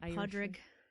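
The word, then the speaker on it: Pádraig: it St Patty's Day pronounce it the the real Irish Podrick and yeah uh stay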